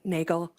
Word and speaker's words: Nagel: Hello, my name is Nagel. I said it wrong before because I'm a bit nervous.